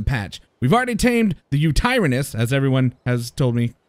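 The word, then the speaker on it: Yutyrannus: released in the patch we've already tamed the U tyranus as everyone has told me should be the correct pronunciation and the megatherium as you can see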